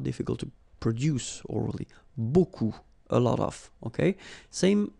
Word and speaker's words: beaucoup: without the article if you want to use beaucoup beaucoup means a lot of a look it